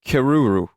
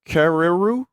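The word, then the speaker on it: kererū: The R is pronounced like a D. Kadedoo?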